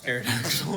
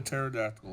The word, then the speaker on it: pterodactyl: some of those around see a pterodactyl on here that's you spell it with a p no it's a pterodactyl it is a pterodactyl then I was right the first time I spelled it sick Yu you should transform into a pterodactyl with a gun oh Ark no I've thought about making an arc Druid padon pterodon pterodon or pterodon my bad no it's a silent P which is nonsense yeah uh makes my